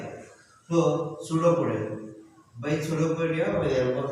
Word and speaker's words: Pseudopodia: Pseudopodia. What? Pseudopodia. Pseudo. P is silent.